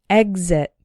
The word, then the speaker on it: exit: is the strong one exit but we still pronounce the X like G exit this word appears to be an exception to